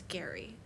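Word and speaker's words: Gerry: sure his name is it's spelled like Jerry but it's Gary it's like g-e g-e-r-r-y I think it's scary well that's because he's 86.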